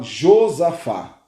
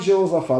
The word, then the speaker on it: Josafá: um o mago jeosafá em algumas bíblias fala josafá e eu vou falar josafá que eu gosto mais essa pronúncia mas a bíblia fala josafá e jeosafá depende da tradução da sua bíblia então esse rei